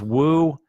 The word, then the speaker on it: Woo: And it's pronounced woo, and the O in song is long, song, like in hope, woo song. That's how you say it.